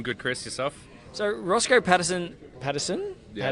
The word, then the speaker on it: Paddison: So Rossco Paddison. Yeah, Paddison. That's good enough pronunciation.